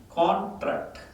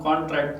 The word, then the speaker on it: contract: If the stress is on the second tract, T, if it is here, it becomes contract, expand and contract, it becomes a verb.